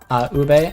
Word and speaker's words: ube: Ube, okay.